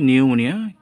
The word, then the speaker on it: pneumonia: উচ্চারণটা হচ্ছে নিউমোনিয়া, কিন্তু সুর হয়েছে পি দিয়ে, পি অনুচ্চারিত।